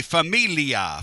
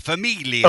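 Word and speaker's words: famiglia: I can't spell it. F A M I G L I A. Familia. Familia.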